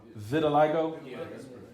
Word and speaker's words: vitiligo: you got three people saying that at one Vitiligo Vio good some form of skin disorder was